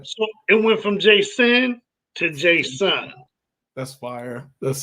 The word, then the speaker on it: JaSun: I was like, yo, my name is JaSun. Like, you know how you pronounce, hey, JaSun. You know what I mean? Like, JaSun, because I still be sinning.